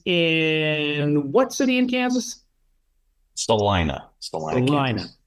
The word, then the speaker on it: Salina: Salina. Salina. Salina. I didn't want to mispronounce it. Say Selena.